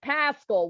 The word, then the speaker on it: Paschall: You like low key said it the right way the second time, but you everybody wants to make my name rhyme with itself.